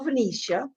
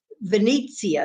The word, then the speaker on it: Venezia: And we were on the Carnival Venetia. Venezia is how they say it. I say it wrong, but anyway.